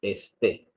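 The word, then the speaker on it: ἐστέ: Aquí tenemos el acento en la segunda éxilo. Esté. ¿Verdad? Suena como Ah. una E porque no tenemos espíritu rudo.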